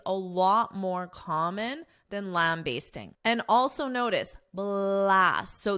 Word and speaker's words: lambasting: Now, first, I'll note that there are two alternative pronunciations, bast or based. Basting or basting. The one I use, basting, lambasting, is the more common, but you may also hear in American pronunciation basting, lambasting, lambasting, lambasting. I recommend lambasting because it is more common.